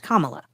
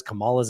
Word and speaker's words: Kamala: also attacked his new opponent whose name is pronounced Kamala if a crazy liberal like Cala Harris so